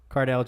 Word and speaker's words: Cardale: you say his name Carter nail card room Cardale Jones yeah for a workout but that doesn't